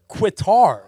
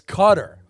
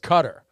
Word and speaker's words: Qatar: it's in Qatar not quitar it's Qatar a military guy said that it's pronounced cutter so I'm gonna go